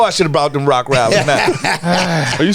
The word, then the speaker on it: Rottweiler: No, it's Rottweiler. Yeah, it's Rottweiler. Rottweiler. Are we not saying it right? You're saying rock. It's rot. You're saying rot. R-O-T. T-T. Rot.